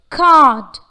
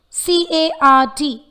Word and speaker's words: card: Card. Card. This word has the letter R, but since it is followed by the consonant letter D, the sound of the letter R is omitted.